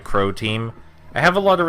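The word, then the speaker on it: Croteam: That's how you pronounce that, right? Crow Team.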